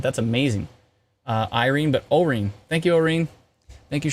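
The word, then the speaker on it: Orene: did you know that I was trying to pronounce it that's amazing uh Irene but O ring thank you Irene thank you Charlene not singing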